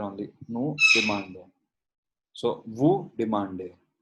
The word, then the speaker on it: demandez: So, vous demandez. We do not pronounce the Z of this.